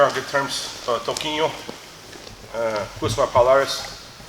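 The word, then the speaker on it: Palhares: good terms, Toquinho, Gusma Palares. It's funny, like, Palares is how you say his name. You're like, oh, he's a wannabe Brazilian. Paul Harris. You fucking don't speak Portuguese, man. It's not Paul Harris, but whatever.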